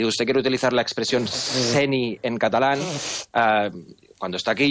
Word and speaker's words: seny: La primera cosa, que a lo mejor no lo sabe, en catalán, cuando la N y la Y van juntas, se pronuncia como la ñ en castellano. Si usted quiere utilizar la expresión seny en catalán, cuando está